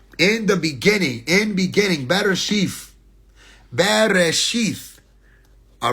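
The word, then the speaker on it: בראשית: Bereshith. Okay? This is Be, Re, Aleph, Shin, Yod, Tav. Bereshith. There's a bunch of ways you can spell that.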